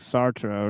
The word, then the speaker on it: Sartre: Like so, like there's a bunch of people dropping like Sart quotes for whatever. I don't know why, but yeah, it's very common. Anglicized, but if in French it's like Sartre or something.